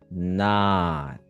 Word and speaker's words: not: Not. Not. Beautiful. You see, you lower your jaw, you relaxed everything. Great T at the end.